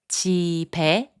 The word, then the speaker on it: 집에: 집에, which means to the house, is pronounced as 집에.